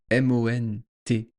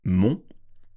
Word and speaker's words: monts: entre le mot mont, M-O-N-T-S, et le mot et, E-T. Il y a un S au mot mont, mais on ne le prononce pas. Des monts, on ne prononce pas le S.